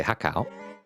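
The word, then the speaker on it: há cảo: In Vietnamese, we say hakao.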